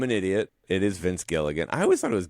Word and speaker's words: Gilligan: Um but uh Vince Gil Gileiam, not Gilligan, by the way.